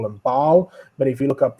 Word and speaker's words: Baal: English we call them Bal but if you look up the original pronunciation it's pronounced ballar which sounds a lot like Allah so again interesting connections